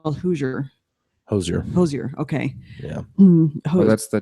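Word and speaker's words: Hozier: No, but I just looked it up recently, and her performance with looks like it's spelled Hoosier. Hosier.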